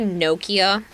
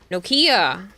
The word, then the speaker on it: Nokia: reading it wrong noia Nokia you're saying Nokia you're putting the emphasis on the wrong part of the word future cycle in